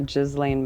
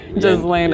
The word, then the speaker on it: Ghislaine: I just need to get rid of the S altogether. Ghislaine.